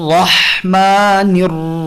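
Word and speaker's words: الرحمن: সো তাসদিদের সাথে যেহেতু ফাতহা আছে, র মোটা। নির র, নির র এটা ভুল। নির করে অর্ধেক পাতলা, তারপরে র দিয়ে ভারী, এটা করা যাবে না।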